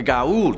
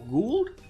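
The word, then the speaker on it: Goa'uld: these entities kicking off at number five the gault stargate ah somebody who watched a lot of sg1 and atlantis that pronunciation and pluralization actually really hurt me see it's actually pronounced or gould not got old and the plural form has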